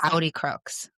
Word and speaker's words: Audi Crooks: I will say um how do you pronounce her name? I want to make sure I don't mess. Audi Crooks. Audi Crooks.